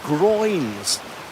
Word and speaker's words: groynes: Now, I remember from A-level geography, these things are called groins. Sounds a bit risque, doesn't it? Groins, but it's spelled G-R-O-Y-N-E-S, I think.